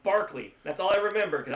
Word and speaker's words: Berkeley: I forget his name, but he told me that Berkeley is not spelled Berkeley. It's pronounced Barkley.